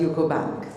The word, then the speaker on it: UCO Bank: My apologies, I'll pronounce it as UCO Bank.